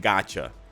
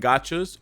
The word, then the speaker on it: gacha: It basically boils down to character gacha versus equipment gacha. And gacha is like, it's not spelled like gotcha, like G-O-T. It's spelled gacha like G-A-C-H-A.